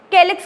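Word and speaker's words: calyx: एक्चुअली दोनों सी से start हो रहे हैं, पर केलिक्स बोलने में प्रोनाउंसिएशन के आ रहा है।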